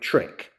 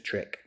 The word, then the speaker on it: trich: of that call it trick. So t r i c h just shorten to trick and what it is is the pulling out of your own hair.